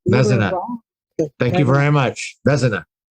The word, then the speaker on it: Vezina: And I'm just going to say my last name is Vezina. Oh, Vezina. Vezina.